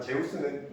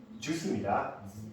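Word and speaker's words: Zeus: 그리고 이거 할 때마다 얘기하지만 제우스는 미국에서는 주스입니다. 주스라고 발음해요. 아직 찾아봐. 제우스라고 하면 걔들 못 알아들어. 주스예요. 할 때마다 난 부끄러워서 밥 잘 못하겠어요. 주스입니다. 주스. 오케이.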